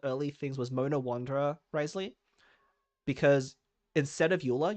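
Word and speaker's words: Wriothesley: how you say it Risley r r r okay it so you ignore like half the letters in his name you say Risley okay so just like French um oh my actually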